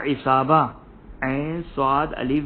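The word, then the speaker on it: عصابة: है वो गले को घेर लेता है, या इसाबा, ऐन स्वाद अलिफ बे ए, इसाबा, जब इंसान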